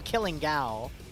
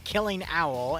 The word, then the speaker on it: Killing Owl: I used to call him Killing Gal, but now I know it's Killing Owl, and that was never corrected for like 8 years.